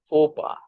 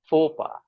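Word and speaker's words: faux pas: me share the correct pronunciation this word is pronounced as PHA okay let me repeat this word is pronounced as PHA and what does it mean it means committing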